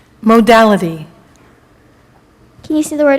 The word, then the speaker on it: modality: to music that is neither major nor minor modality am I pronouncing it correctly modality m o d a